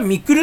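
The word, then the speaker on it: 未来: でも朝倉未来さんって朝倉みくるって読むんだね。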